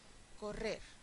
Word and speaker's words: correr: Correr, correr. Tenemos una palabra aguda, ¿sí? Porque el estrés está en esta sílaba y no termina en N, ni en S, ni en vocal, con lo cual tampoco hay que ponerle tilde.